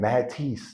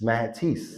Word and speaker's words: Mathis: It's nothing like walking into a gym and the people in France, they don't pronounce H's. It's not like being in a spot and they all chanting Mathis, Mathis.